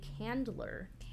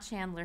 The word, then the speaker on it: Candler: you say his name Senator Milton a Candler Candler Chandler not Chandler from no I really wanted to be Chandler but there's no age oh so sad unsuccessfully